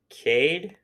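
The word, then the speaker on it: Kincaid: uh on Williams versus Kade it's k i n c a i d I would say that Kade okay I'm sorry if I mispronounced this um on Tuesday citing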